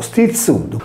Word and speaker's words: Stizzuddu: Stizzitu o stizzudu, così come viene pronunciato a Castelsardo, è colui che alza la cresta, similmente alle Incaboniscau campidanesi e alle Inchigristadu logudorese.